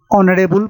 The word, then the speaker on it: honorable: Here H is silent and he pronounced with O. An hour. An ear. An ear. Waris. An honest man. An honorable person.